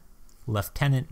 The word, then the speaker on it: lieutenant: on is their leader leftenant Bruce right and I can tell from your pronunciation of leftenant that he's either British or Commonwealth soldier David not an American